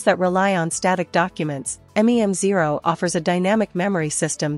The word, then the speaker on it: Mem0: MEM0 pronounced MEM0 is an open- source memory layer designed to enhance AI assistance and agents with intelligent persistent memory.